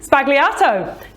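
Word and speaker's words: sbagliato: media World by storm it is the Negroni spagliato and that's what we're making today right absolutely it is and did I pronounce it right you've got that right yeah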